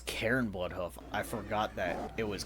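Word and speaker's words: Cairne Bloodhoof: If I had to guess, Bane is going to be Oh, it's Karen Blood Hoof.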